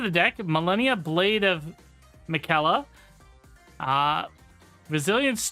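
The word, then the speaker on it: Miquella: It's pronounced Mikella, according to what we're seeing here.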